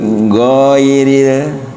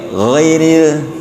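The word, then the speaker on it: غير: Jadi bukan giril bukan gitu tapi ghairil.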